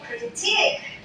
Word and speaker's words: critique: Critique. Say critique. That is critique. The stress is at the second syllable, and it is quite long.